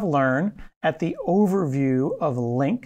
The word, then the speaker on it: LINQ: at the overview of Link it's pronounced link link and I'm just